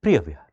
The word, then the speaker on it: Preah Vihear: Preah Vihear, right? Of course, there would be a particular local pronunciation also, but we are going with Preah Vihear.